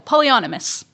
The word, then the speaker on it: polyonymous: Polyonymous. There we go. Polyonymous.